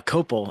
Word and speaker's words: Cople: my name's uh copal is how you say it but CLE everybody says or cop or something like that uh and I